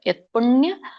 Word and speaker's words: ಯತ್ಪುಣ್ಯ: ಯಜ್ಞೇಶು ತಪಸ್ಸುಚೈವ ದಾನೇಶು ಯತ್ಪುಣ್ಯ ಇಲ್ಲಿ ಯಾವಾಗ ವ್ಯಂಜನ ಇರುತ್ತಲ್ಲ ಸೋ ಪು ಬೇಗ ಹೇಳಿಬಿಡಬೇಕು ಯತ್ಪುಣ್ಯ ಸೋ ಅಂದ್ರೆ ತಕೆ ಪವತ್ತು ಕೊಟ್ಟಹಾಗೆ ಹೇಳಬೇಕು ನಾವು ಯಾವಾಗ ವ್ಯಂಜನ ಇರುತ್ತಾಗ ಯತ್ಪುಣ್ಯ ಫಲಂ ಪ್ರದಿಷ್ಟಂ ಅತ್ಯೇತಿ ತತ್ಸರ್ವಂ